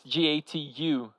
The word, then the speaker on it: gato: we say gato, which is Gatu. The pronunciation, the popular pronunciation is gato.